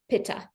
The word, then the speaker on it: Pitta: English yes people here in the west we pronounce it paa so the pad DOA allows you to really